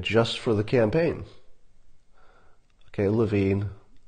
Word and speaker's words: Levin: for the campaign okay Levine Levin am I still saying it wrong love in I guess apparently I'm still pronouncing his room name bro I apologized to